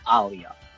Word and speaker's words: Aliyah: Yo, when they keep saying she's Aaliyah, but no, it's Aliyah.